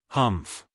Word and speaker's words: humph: read this story aloud please pronounce humph exactly as it is spelled for that is how he said it humph do you know until